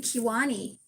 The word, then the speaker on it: Kiwani: In fact, when I was doing Kiwani, and that's how you pronounce her name, is hard on the key, Kiwani.